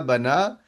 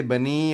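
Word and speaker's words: بَنَى: So Rama, Sa'a, Bana, you actually have the ya written, however, you do not pronounce it, right? So you will drop it in the conjugation. You're not going to say Bani or Sa'i or Bani, right? You won't actually say that. You will actually pronounce this as an alif.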